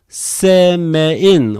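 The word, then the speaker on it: Σεμεΐν: The two dots here indicate the vowel here is not a diphthong. They have to considered as two different separate vowels. Then you have to pronounce se-me-in.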